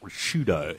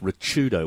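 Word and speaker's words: Ricciuto: once his name mark rashido it's actually pronounced richardo with the Hajj um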